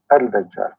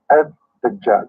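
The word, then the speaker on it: الدجال: You see in the English, they don't even write it right. They say Al-Dajjal because in Arabic here there's L, but they are trying to supposedly to teach you how to pronounce it. So Ad-Dajjal, they make it shorter. But the fact it is Al-Dajjal.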